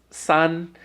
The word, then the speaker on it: 三: sin in this case Sun is the word for three it's the pronunciation Sun and you see I